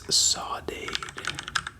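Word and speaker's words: saudade: It's sawade. Sawade. Sawate.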